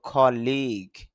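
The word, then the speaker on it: colleague: আবার লি তারপরে কোলন চিহ্ন আছে, অর্থাৎ দীর্ঘ টান দিতে হবে, এই জন্য বলতে হবে কলিগ।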